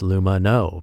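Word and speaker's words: Lumineux: can harm it that's why their name is pronounced luma no because it has no harsh bleaches no artificial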